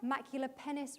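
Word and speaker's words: maculipennis: And this is Trichothera maculapennis, rhymes with Dennis.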